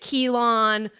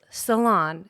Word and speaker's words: Ceylon: So we were like, is it Ceylon? Is it Keelan? What is it? But it's Ceylon.